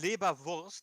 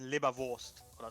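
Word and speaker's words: Leberwurst: phonetic pronunciation in german it's libra vulst but the r isn't really pronounced it says it's in libervost or something depends on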